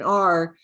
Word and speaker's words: our: spell it our in r but they sound the same when you're talking fast r cat um are you going you hear how just sounds like r this is really confusing